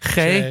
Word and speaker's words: Che: Che.